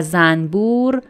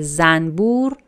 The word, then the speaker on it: زنبور: در مورد تلفظ کلمه زنبور بدم. ما می نویسیم زنبور، ولی تو فارسی برای راحتی تلفظ اکثرا میگیم زنبور. زنبور یعنی نون رو م تلفظ میکنیم.